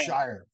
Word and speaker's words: Shire: in quite a while it's Justin sheer is it Shire I think it's Shire yeah he actually says it on his Instagram how to pronounce his name so Justin Shire he